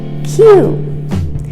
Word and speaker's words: queue: comments below lasagna now the next word looks like it's difficult to pronounce but it's actually very easy it's a q q i was standing in a queue for one hour in order to buy the tickets q q like the letter q our next word